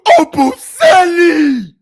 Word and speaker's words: Obumseli: She mispronounced my nigga name. It's Obumseli.